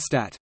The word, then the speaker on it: Stadt: The word Stadt, cities, is pronounced with a short vowel, by some, Janhofer, Ard Television, and with a long vowel, TT, by others, Marietta Slomka, ZDF Television.